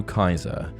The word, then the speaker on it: Caesar: If you write Nero Caesar phonetically in Latin, you get Nero Kaiser, as the C was a hard C.